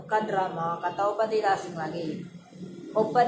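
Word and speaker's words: 오빠: atau Kadir asing lagi Oppa disini terdapat otonom dasar yaitu odanna dan disusul dengan konsonan kembar jadi dibaca opa-opa yang hanya memiliki satu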